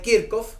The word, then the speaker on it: Kirchhoff: alterna, está conformada por las leyes de Kirchhoff, o de Kirchhoff, como se pronuncia en alemán, por las leyes, por